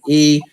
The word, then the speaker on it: Storme: On Facebook, you can find me on my government, Storm, Storme. The E is silent, but it's strong.